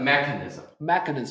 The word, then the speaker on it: mechanism: I pronounce mechanism. So I put usually 我们把逻辑重音会放在 mechanism. Mechanism. 就第一个音节 So what is mechanism?